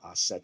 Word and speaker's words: Isis: What are their actual names in hieroglyphs and how would you pronounce it? Asar or Aser, User, or Ast or Aset for Isis.